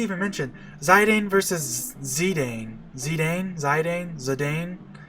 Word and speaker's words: Zidane: Zidane. I believe that the most official pronunciation of Zidane is Zidane. But as a kid, I always pronounced it Zidane.